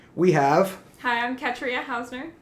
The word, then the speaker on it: Ketria: we have hi i'm katria housener ketria hausner she says that you uh pronounce her name like katrina without the n still on the fence